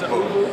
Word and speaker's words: ooVoo: Yeah, it's ooVoo. ooVoo, O-O-V-O-O.